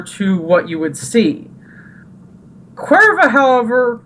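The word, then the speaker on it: Caoimhe: Yeah, it's pronounced Cuerva. And I'm like... Like the beer. Yeah. In Mexico. But not exactly. And the spelling is like Ciomhe. And that's it's just pronounced Cuerva?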